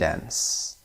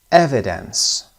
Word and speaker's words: evidence: witness first syllable evid evidence evidence first syllable read the article once